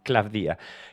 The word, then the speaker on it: Klavdia: Ah, no, perdón, lo estoy pronunciando mal, Claudia, que me lo corrigieron el otro día, es con acento en la I, es Claudia.